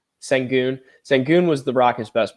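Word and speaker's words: Şengün: How do you say his last name? Sangun.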